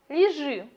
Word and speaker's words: лежи: Сравните. Лежи. Ударение на второй слог.